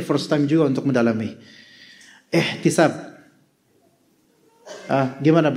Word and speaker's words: ihtisab: Ihtisab. Gimana bacanya? Ihtisab.